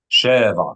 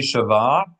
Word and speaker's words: שבע: שבע, Sheva, accent the first syllable. שבע. Yeah. If it would be Shava, we would need a Shava under the Shin to make it unaccented.